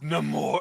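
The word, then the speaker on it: Namor: though for that matter say his name right it's NE more that's so stupid I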